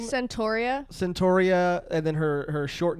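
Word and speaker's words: Centorea: How do you pronounce her name? Centauria.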